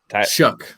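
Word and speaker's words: Shough: would you pronounce it shuck like if you're shucking a piece of corn yeah there's no c c k so okay but Tyler shuck like you shucking corn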